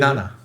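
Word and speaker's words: なな: They're both 2 syllables though, Oh man, I forgot. and one's so- repeating. What is Nana.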